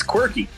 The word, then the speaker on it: Quirky: me again, Brian, because I don't want to pronounce it wrong. It's quirky.